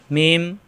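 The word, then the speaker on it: ميم: থাকবে না এটা লাম মিম দুই ঠোঁট থেকে উচ্চারণ মিম মিলানো ঠোঁট ছেড়ে দিয়ে আবার মিলালেই হয়ে যায় মিম মিম মিম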